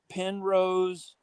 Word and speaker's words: Penrose: just put in uh Pen Rose that's how it's spelled p n r o s e Pen Rose triang P or pin pen or pin like like like an ink pen put in a Penrose